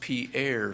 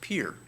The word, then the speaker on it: Pierre: things and we learned that this is not pronounced Pierre South Dakota it's pronounced Pierre South Dakota and we got here who ran